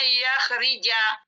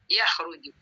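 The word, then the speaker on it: يخرج: Oh, saya nggak maunya bacanya yakhrija. Maunya bacanya yukhruja, yukhruji. Tidak bisa. Ini sudah ditetapkan oleh kamus barisnya yakhruju. Ya kharaja, yakhruju.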